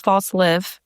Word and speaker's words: Falslev: So, my last name is false live. It's just an abbreviation. It's Danish. Yes. False Live. I've always said false. False Lev.